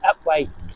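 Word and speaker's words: Upwey: over them so shortly we'll be coming into upway it's sped upwe upu P we y but it's pronounced upway and that's where our first church is going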